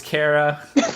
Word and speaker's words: Kra: Kra is Kara.